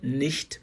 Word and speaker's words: nicht: Na verdade, se for pronunciar bonitinho, nicht mal. Não é porque a palavra nicht, na linguagem falada ali, dificilmente você vai colocar a letra T. Você fala só nicht.